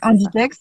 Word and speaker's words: Inditex: Maintenant dans le textile en général, bah, on a le groupe je sais jamais le prononcer, le groupe Zara Inditex? Inditex ou Ouais, voilà Inditex, c'est ça.